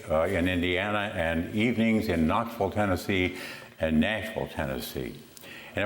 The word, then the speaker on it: Knoxville: "You're saying Knoxville. It's not Knoxville. Not if you're from Knoxville, it's Knoxville."